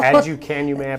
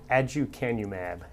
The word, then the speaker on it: aducanumab: I'm going to have you pronounce it, first of all. Aducanumab or Aduhelm. Okay, yeah. Say it again. Aducanumab.